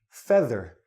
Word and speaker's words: feather: If you look at the dictionary, you will find out that this word is pronounced feather. This EA sounds like this E.